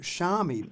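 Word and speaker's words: Xiaomi: the third biggest phone company in the world shami not many people in australia have heard of it it's spelled x i a o m i and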